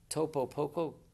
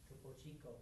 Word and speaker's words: Topo Chico: So they wanted to use a water, Topo Coco. How do you say it? Topo Chico. Yeah, that's it. That's the word.